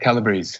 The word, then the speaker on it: Calabrese: Is it Calabrese? Is that how it's pronounced, the last name? Yep, Calabrese.